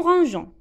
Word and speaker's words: rangeons: Si on écrit E, ça se prononce nous rangeons.